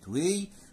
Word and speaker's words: weigh: طيب عندي بعد كده حرفي جي اتش في كلمة وي صامتان لا ينطق، سايلنت لا ينطقان.